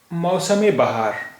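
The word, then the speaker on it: मौसम-ए-बहार: मौसम बहार, मौसम बहार, मीम के नीचे जेर है तो ये इजाफत है और इसका उच्चारण यहाँ पर होगा ए, तो ये मौसम बहार, मौसम, मौसम बहार यानी बहार का मौसम।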